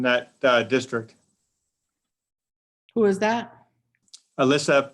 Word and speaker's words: Aylissa: And also her first name is spelled AYLISSA. So it's like Alyssa.